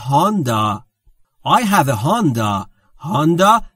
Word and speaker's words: Honda: هوندا تلفظ درسته.